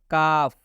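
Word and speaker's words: calf: का उच्चारण नहीं करेंगे जैसे काफ आप काफ में देख सकते हैं एल के बाद एफ है इसलिए इस एल का उच्चारण नहीं होगा काफ का मतलब होता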